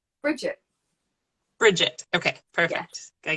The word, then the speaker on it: Brigitte: Hello, Brigitte. Are you there? Hi. Hi. How are you? Yeah, I'm really good. How are you? Good. And is it pronounced Brigitte? Is that right? Bridget.